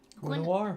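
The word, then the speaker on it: Guenhwyvar: Wavar.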